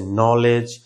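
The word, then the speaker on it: knowledge: নি, আমরা এটাকে বলি নো, এটাকে বলি নাইফ, এরকম আরো আছে নলেজ, এগুলা কিন্তু কে এন দিয়ে শুরু হয়েছে এবং কেটা সাইলেন্ট করে দিবা।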